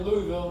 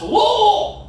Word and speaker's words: Louisville: And I went out there, I'm like, hey, it's so good to be here in Louisville. And I had 400 people immediately go, it's pronounced Wool!